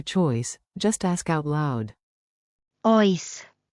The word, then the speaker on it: Oes: Oes. It even rhymes with choice.